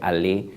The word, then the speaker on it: Allais: si mal no recuerdo, que se escribe Allais, pero se pronuncia Allais.